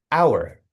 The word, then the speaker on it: hour: Conversely, hour starts with an H, but the H is silent. The first sound is O W, O, ow, hour. So, we say an hour.